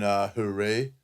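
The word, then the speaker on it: Jerez: Beautiful track, beautiful setting in Hooray. Hooray, is that how you say it, mate? Hooray without the Z or the... Yeah, it's like a H.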